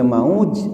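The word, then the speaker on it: موج: Tapi kalau dibacanya mauz, hurufnya hampir mirip, yang satu mim waw jim, yang satu mim waw zai. Itu maknanya jauh sekali. Artinya kalau maujun tadi artinya ombak di laut.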